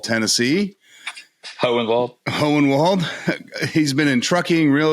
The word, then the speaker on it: Hohenwald: He is the owner of ARG Outdoor Services out of, I never pronounce it right, Honewald, Tennessee. Hohenwald.